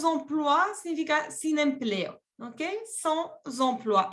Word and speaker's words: sans emploi: exemple, mon frère est sans emploi. Sans emploi significa sin empleo, ¿ok? Sans emploi. Y aquí tienen que hacer la conexión entre la S y la E.